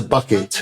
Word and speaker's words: Bouquet: to different, I'm onto bucket. It's spelled bouquet, but it is bucket delay.